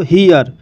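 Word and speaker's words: here: तो हियर, हियर शब्द में ई के बाद आर आया है और आर के बाद ई आया है, तो यहाँ पर दोस्तों जो आर से पहले ई है इस ई का उच्चारण शॉर्ट साउंड ई होगा और आर का उच्चारण आर होगा, और इसलिए इसे हियर पढ़ा जाता है, और हियर मीन्स होता है यहाँ।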